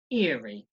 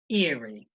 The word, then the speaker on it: eerie: this word is pronounced eerie eerie two syllables again stress on the first syllable eerie eerie so you'll